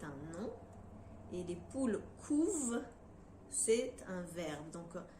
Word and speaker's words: couvent: nous avons un verbe donc par exemple le couvent c'est un moment et les poules couvent c'est un verbe donc à la troisième personne